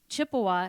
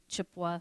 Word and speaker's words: Chippewa: group of people so this Chippewa is a mispronouncing mispronunciation of Ojibwe and anishinabe is what